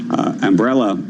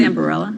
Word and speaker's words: Ambarella: And check out shares of chipmaker Umbrella. How do I pronounce that? I think it's Ambarella. Ambarella.